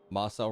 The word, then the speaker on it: Marcel: Marcel rhymes with incel.